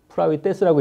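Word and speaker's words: πραΰτης: 프라위테스라고 읽는데, 온유, 친절, 겸손, 동정심.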